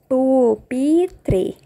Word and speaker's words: pupitre: deles é o Peter pupitre se fala dessa forma por Peter e que é a